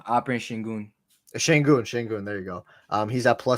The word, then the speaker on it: Şengün: Is that how you pronounce his last name? Alperen Şengün. Şengün.